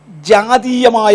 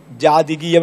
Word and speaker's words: ജാതീയം: പറഞ്ഞു മൂന്നാമത്തെ സഭയുടെ പ്രത്യേകത ജാതീയമായ കണ്ടീഷൻ ഞാൻ പലപ്പോഴും പറഞ്ഞപ്പോൾ ജാതികീയം ജാതികീയം എന്ന പദമാണ് ഉപയോഗിച്ചത് ഇതിനകത്തുള്ള ഒരു സഹോദരൻ എന്നെ പോയിന്റ് ഔട്ട് ചെയ്തേച്ച് പറഞ്ഞു ജാതികീയം എന്ന് പറഞ്ഞാൽ ജാതകത്തോട് ബന്ധപ്പെട്ടതായെന്ന് വ്യാഖ്യാനിക്കാം അതിനേക്കാൾ ബെറ്റർ ഉച്ചാരണം ജാതീയം എന്നതാണ് അപ്പോളജൈസ് ജാതീയം ഞാൻ ആദ്യം